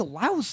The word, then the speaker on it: Laos: La for people from Lao. It's not. You don't pronounce the S.